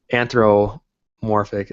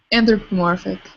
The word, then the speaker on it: anthropomorphic: something more anamorphic or anthromorphic is that how you say it correctly anthropomorphic yeah I think that one